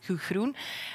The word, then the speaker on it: Gudrun: If you pronounce it in the Antwerp accent, it's Gudrun.